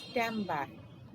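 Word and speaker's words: timbre: first one in music timber that is pronounced as stambah describes the quality or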